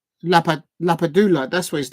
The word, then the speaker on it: Lapadula: Lapadula.